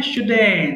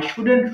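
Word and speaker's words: shouldn't: উচ্চারণটা খেয়াল করবো, আই শুডেন্ট রাইট আমার লেখা উচিত নয়। আমি একবার পড়ছি, খেয়াল করবো, খুব ভালো করে খেয়াল করো, আই শুডন্ট হবে না, আই শুডেন্ট সিম্পলি ছেড়ে দিবা, বলবা আই শুডেন্ট right, I শুডেন্ট right, I শুডেন্ট right.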